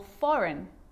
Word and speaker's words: foreign: baked wrapped okay so a g can also be silent too think about the word sign champagne design or foreign all of these examples have a silent g and the combination gh